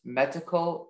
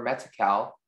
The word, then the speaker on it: metical: The word can be pronounced metical or metical.